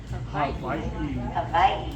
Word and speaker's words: Hawaii: Hawaii with a V, yes.